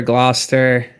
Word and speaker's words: Gloucester: It's Worcester and Leominster, Leominster, Gloucester, Situate.